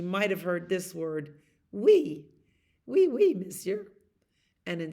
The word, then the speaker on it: oui: French, you might have heard this word, oui.